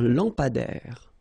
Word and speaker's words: lampadaire: Un lampadaire. Final E, not pronounced. Un lampadaire.